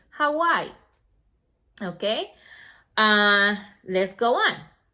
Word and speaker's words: Hawaii: don't say a y it's a name so you have to pronounce it as it is you say hawaii okay uh let's go